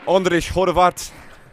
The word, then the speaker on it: Ondrej Horvat: Ondrej Horvat, that's the Hungarian pronunciation.